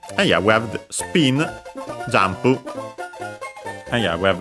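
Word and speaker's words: スピン: from English, of course, with the addition of u for su, but is barely heard if at all since it's between unvoiced consonants, so yeah, even closer to English. Accented on the P, just like in English, spin.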